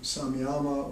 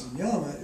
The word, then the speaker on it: samyama: yoga practice is called people pronounce it differently samyama or samyama uh it's in the